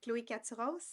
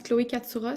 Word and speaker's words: Chloé Katsouros: plaisir, Chloé Caturos. Toujours. Mon chum me dit cette semaine, il me dit, est-ce qu'Émilie est au courant que ça se prononce Chloé Katsouros?